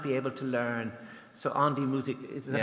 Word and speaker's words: An die Musik: So, An die Musik, is that how you pronounce it?